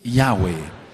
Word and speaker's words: Yahweh: dice el eterno Yahweh, y sabrán mi nombre y sabrán que mi nombre es Yahweh. No hay otra forma de pronunciarlo.